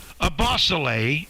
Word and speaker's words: Ebosele: name right so how often have people mis pronounced your name when it's a bosolay but what are how i can't even imagine